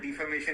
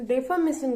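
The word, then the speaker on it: defamation: अरे डिफॉर्मेशन तो होता ही नहीं है किसी भी एक्सेंट में, किसी भी तरह के प्रोनाउंसिएशन में। ये डिफॉर्मेशन नहीं होता, ये तो होता है डेफॉर्मेशन। तो देखिए, इसको डेफामेशन कहते हैं।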